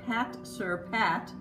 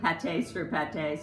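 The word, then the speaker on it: pâte-sur-pâte: It has the Pat Sur Pat edge on here. Last time I had said it, I think Pate Sur Pate, so forgive me.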